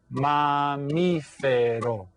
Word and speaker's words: mamífero: Now, make sure that you know that, because in Spanish, you have to stress the right syllable, and that's why you stress the second syllable.